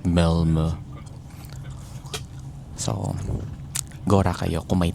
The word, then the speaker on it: Malmö: So I think they pronounce it like Milmo.